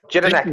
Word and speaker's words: Jedinak: How do you pronounce that? Who's that? Jellic? Who are these dudes? Jedinak.